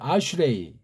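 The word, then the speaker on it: אַשְׁרֵי: 시편 같은 경우 딱 보면 참 요 말이 복수꼴 형태로 나오고 있죠. 아슈레이라고 발음하죠. 아슈레이.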